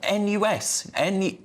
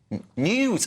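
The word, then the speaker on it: NIUS: Now, to discuss this, I'm pleased to welcome Julian Reichelt, a founder and editor-in-chief of NUS? News. Oh, it's pronounced news.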